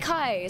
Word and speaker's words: Kai: happened what happened hi my name is pronounced like kai so you said it correctly yay kai i'm glad